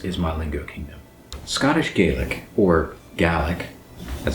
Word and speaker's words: Gaelic: If you live in the United States or another country outside of Scotland, you might see this word and pronounce it Gaelic.